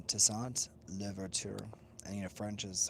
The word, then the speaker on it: Toussaint Louverture: It's Toussaint Louverture. So yes, it's Toussaint Louverture, and you know French is hard for many to pronounce.